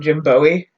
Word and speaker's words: Jim Bowie: gym buoys name wrong they kept calling him Jim Bowie and like David Bowie like it's Bowie it's Jim Bowie because we have the bowie knife like and justly conflated